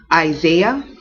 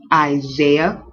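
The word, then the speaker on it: Isaiah: and then we have isah isah so this is an s but it almost ss like a z isah not isah isah isah and then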